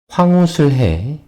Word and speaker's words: 황우슬혜: 황우슬해. 황우슬해. It's difficult to pronounce it. 해. 해 has a double vowel 예 attached to here.